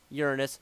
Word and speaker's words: Uranus: planets of the Milky Way galaxy Mars Venus Uranus that's how you pronounce it Pluto which was a consider two